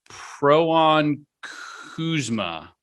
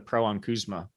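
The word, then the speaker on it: poronkusema: i again i have no idea how to pronounce this one this is a pro on kuzma oh yeah the pro on kuzma p-o-r-o-n-k-u-s-e-m-a uh it's a finnish word and it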